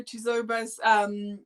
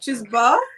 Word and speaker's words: Chizoba: It's the O. It's literally the O that people get. It's like, Chizoba. Yeah, it's like Chizoba. Don't even pronounce the O. Like it's like Chizoba. Like, but people put emphasis on the O. And I'm like, no, don't put emphasis on the O. Like, just forget it's even there.